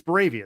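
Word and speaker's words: Boravia: So, no, it's Braavia. That's the That's how it's pronounced.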